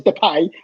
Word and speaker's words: Depay: Depay, whatever you want to say his name is, because he says Depay and we say Depay because we're English.